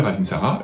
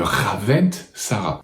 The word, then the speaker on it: ravintsara: de quoi vous parlez si vous parlez du ravintsara c'est le ravintsara leur aventara c'est leur Ravensara et prononcez le correctement parce que j'ai déjà entendu dire par certaines personnes le ravint Sarah donc là après on